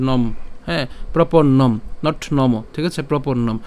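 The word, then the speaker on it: প্রপন্নম্: এটার উচ্চারণ কি হবে হস চিহ্ন পর্যন্ত উচ্চারণ হবে অর্থাৎ অর্ধেক উচ্চারণ হবে নম হ্যাঁ প্রপন্নম নট নম ঠিক আছে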